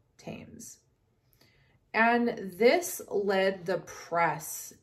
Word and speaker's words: Thames: near the river thames thames is spelled t-h-a-m-e-s you could call it thames but to my knowledge it is called tames and this led the